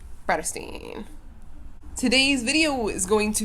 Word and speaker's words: Bratterstein: my name is my channel name is pronounced predestine today's video is going